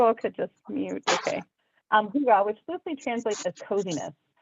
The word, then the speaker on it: hygge: It's this first word is pronounced If you all could just mute, okay. Hygge, which loosely translates as coziness.